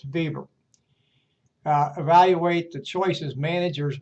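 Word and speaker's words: Weber: Notice that his name is spelled web uh but W in German is pronounced as a V. So it's Bieber.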